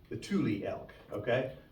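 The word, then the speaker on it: Tule: it's called the the t l e that's pronounced Tuli the Tuli elk okay it's a smaller elk uh and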